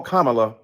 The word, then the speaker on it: Kamala: be respectful to the Congresswoman who insisted upon mispronouncing Kamala Harris. Do you call Melania? Do you call Ivanka? Then call Kamala.